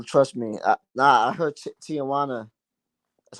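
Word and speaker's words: Tijuana: Nah, I heard Tijana. That's how you say it. Tijana.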